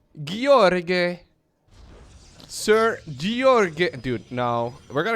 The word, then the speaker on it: Gheorghe: Here's how you pronounce it in Romanian. Gheorghe. Gheorghe.